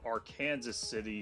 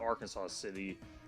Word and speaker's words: Arkansas City: We get Independence on the second line, and Arkansas City 70. It's not Arkansas City, as you'd think, but it's Arkansas City, pronounced in Kansas.